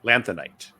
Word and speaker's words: Lanthanite: the life cycle of a lanthanite lanthanite there we go that's how you say it yeah I don't remember